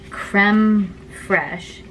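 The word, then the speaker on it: crème fraîche: stiff peaks it's whatever then we add this creme fraiche that's how it's pronounced but like look at how it's spelled like Wow and I'm kind of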